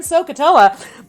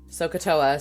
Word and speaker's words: SOHCAHTOA: So one way to remember the letters is to sound them out phonetically. SOHCAHTOA, similar to Krakatoa.